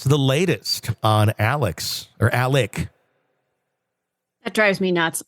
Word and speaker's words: Alex: latest on Alex or Alec that drives me nuts I know they pronounce it Alec but it's spelled Alex so I know I'm